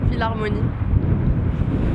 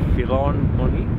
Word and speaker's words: Philharmonie: Philharmonie. Philharmonie.